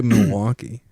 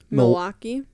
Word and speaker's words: Milwaukee: Do you guys, how do you say Milwaukee? Milwaukee. Yeah, Milwaukee. It's not Milwaukee. No. Milwaukee. Yeah, people from Milwaukee don't pronounce the L's.